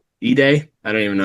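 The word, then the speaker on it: Zach Edey: I'm just saying like Zack Eddie like Eiday. I don't even know how you say his name. Zack Ed.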